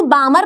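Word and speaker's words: Balmer: इसको बामर पढ़ते ही एल जो है वो आप साइलेंट रखते हो।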